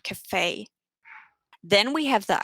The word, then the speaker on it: café: And that means that the pronunciation of the E changes to an A. So for example, café. It's almost like an AY sound, café.